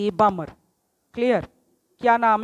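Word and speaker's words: Balmer: तो साइंटिस्ट जे बामर, क्लियर, क्या नाम है इसने, जे बामर, इसमें इसको बाल्मर मत बोलना, एल साइलेंट है।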